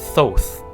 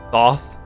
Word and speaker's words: Thoth: moon and time thoth i thought it was thoth at least that's how i always heard it being pronounced damn set did that